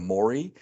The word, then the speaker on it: Maury: and that just reminded me, like when you used to watch Maury Povich, Yes. back in like the 2000s, they would all call him Murray instead of Maury.